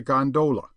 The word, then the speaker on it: gondola: by the way is known amongst the fraternity as a gondola with the second syllable emphasized and pronounced long but to return I